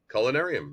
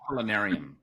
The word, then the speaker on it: Culinarium: Culinarium, like culinary. Culinarium.